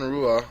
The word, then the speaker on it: Rua: event, we had Mauricio Shogun Rua or Hua, depending on how you pronounce it. Even though it, you know, starts with an R as an American, I should say Rua, you know, or an